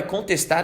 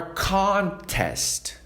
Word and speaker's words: contest: He is training for a contest. Mais uma vez, he training for contest. Dando ênfase aonde? No início da palavra, tá?